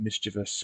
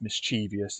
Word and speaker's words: mischievous: measurements again um and the word mischievous which some people will stupidly pronounce mischievous even though the spelling has no I between the V and the o anyway um all right